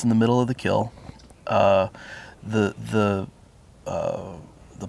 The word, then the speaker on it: kiln: using the word kill it's interesting that word was originally pronounced this way and it was spelled k-i-l-n and then uh as the as the the word got used in books and stuff people would read it as Kiln so when you hear people say the word Kiln it's because they mispronounce the word kill okay I did not